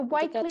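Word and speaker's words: Wakeley: Am I pronouncing that right? Yes, the Wakely ndikataura riots in Sydney nezvemariots earlier this year eWatley in ekusydney April.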